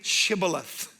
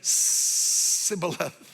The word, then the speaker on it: shibboleth: to them okay then say Shibboleth and they said similar and couldn't say it and on the basis